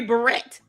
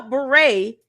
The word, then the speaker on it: beret: You know, beret only has five letters, two syllables. Beret. Beret. Two syllables, five letters.